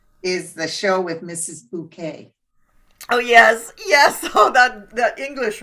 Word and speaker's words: Bucket: Bouquet. Oh yes. Oh, that English one, right? Yeah. Where she pretends it's pronounced bouquet. Hi, Mrs. Bucket.